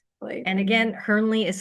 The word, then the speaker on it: Hirnle: And again, Hearnley is spelled H I R N L E.